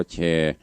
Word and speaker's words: แชร์: แต่ กด คำ ว่า สระ เอ ช ช้าง ร เรือ การันต์ อ่าน ว่า แชร์ แป๊บ เดียว ก็ ไป